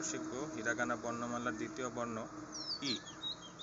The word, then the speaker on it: い: যেমনটা বললাম, এর উচ্চারণ অনেকটা ই।